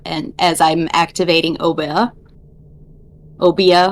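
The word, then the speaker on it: Obeah: as I'm activating obeda obia I don't know how how to say it but it is obeya obeya damn I am yep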